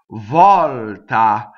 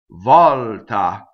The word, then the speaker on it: volta: it's up here right Volta so here we have a stress though in its open Volta okay great ah in